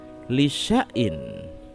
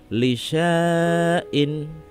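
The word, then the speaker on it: لشيء: lieur pada surat al-kahfi cara membacanya adalah lisyaiin bukan licensed in Hai pada Surat Yusuf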